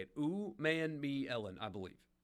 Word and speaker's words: Umanmielen: Princely Umanmielen, I believe is how you say it. Umanmielen, I believe.